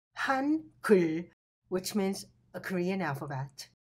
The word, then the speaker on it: 한글: Together, this sounds han kul, which means a Korean alphabet.